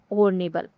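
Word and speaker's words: honourable: है यह हॉर्नेबल है इसमें एच है व मून है इसका उच्चारण क्या होता है हॉर्नेबल हॉर्नेबल होता है जो कि य से इसका उच्चारण शुरू होता है जो कि एक वोवेल साउंड है।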